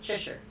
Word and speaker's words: Cheshire: oh cheshire is that a cheshire no it's pronounced cheshire oh it's t-shirt is that right or